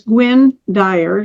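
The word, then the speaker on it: Gwynne Dyer: it's called Intervention Earth and his name is Gwen Dyer last name is D D like David D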